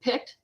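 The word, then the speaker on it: Pict: Uh, she is picked and that's spelled P IC T.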